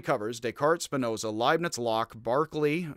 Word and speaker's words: Berkeley: descartes spinoza leibniz locke barkley for whom this town is mispronounced as berkeley and kant with few